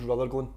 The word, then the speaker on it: Rutherglen: the beginning and am I pronouncing it correctly Ruth Glenn Ruth Glenn is that where you're from so weird I was actually born what was rutherglen right okay so it's just next to cameras